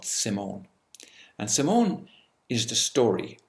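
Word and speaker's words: S1m0ne: It's better pronounced S1M1 because it is actually spelled S1 M-O-N-E and pronounced Simone, but it was written as S1M1, which meant that it was simulation number 1.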